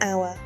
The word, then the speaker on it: hour: An apple, an hour. Note, hour starts with H, but the H is silent.